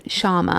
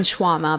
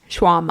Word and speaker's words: Sharma: Robin Sharma. What's I called him Robin Shawarma, but that's a kebab.